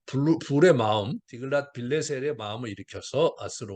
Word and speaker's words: 디글랏 빌레셀: 디글랏 빌레셀, 아까 발레셀 발음을 잘못했네요.